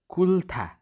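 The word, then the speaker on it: 끓다: यहाँनिर कुल्था। कुल्था ल बिचमा उच्चारण भयो।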